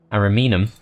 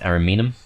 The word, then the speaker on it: Ariminum: Ariminum, that's how it's pronounced, Ariminum, and Arretium are relatively strongly defended.